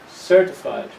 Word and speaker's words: certified: you need to check here's another form of the word certified the first is a strong one certified accountant and another form